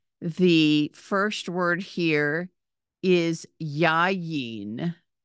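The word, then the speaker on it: יין: first word here is yayin yayin it has a double yud and a final nud and an a and an e sound yeah the second word is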